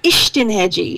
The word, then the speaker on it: Istenhegyi: He does it, I write it phonetically so that you can pronounce Istenhegyi.